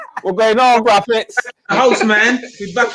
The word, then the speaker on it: Braithwaite: In other parts of the world, it's Braithwaite. Yes. But we're not from other parts of the world. You're from a spectacular island in the Caribbean where we pronounce it Braffet, boy. Braffet. With an F.